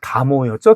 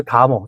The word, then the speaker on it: 다모: 근데 이제 다모라고 할 때는 이제 그 다자로 발음이 되는데요.